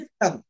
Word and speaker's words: thumb: THUMB, తంబు అంటారు, తంబు కాదండి, తమ్.